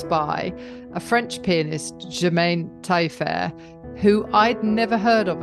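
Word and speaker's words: Tailleferre: Is it pronounced Taillefer? Taillefer, yes.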